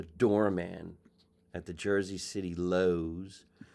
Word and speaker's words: Lowe's: My father was a doorman at the Jersey City Lowe's. People used to call it the Lowies because of the way it's spelled.